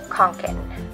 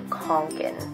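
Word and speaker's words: Kånken: But like I said, the pronunciation is Fjallraven Kanken. Because they said that this A with the circle on top of it is pronounced as an O. So Kanken. And the A that has two dots on the top is like Fjall.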